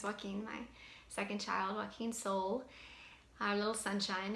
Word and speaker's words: Sol: And yet I will tell you that spirit, Joaquin, his name's Joaquin, my second child, Joaquin Sol, our little sunshine, it's spelled S-O-L like sun in Spanish.